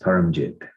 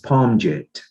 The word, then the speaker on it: Parmjit: a little bit further my name this is my name for this physical body is actually pronounced paramjit it's a punjabi name and i was born in india came over here and and when the name was translated because there's a uh certain pronunciations that people find difficult in english um my name was spelled as parmjit and so most of